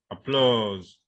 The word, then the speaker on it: applause: Now, there are some words that the stress will be on the second syllable.